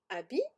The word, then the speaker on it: habits: Pas de beaux habits, les deux sont au pluriel. Attention à habit, il y a bien un H, même si c'est un H muet.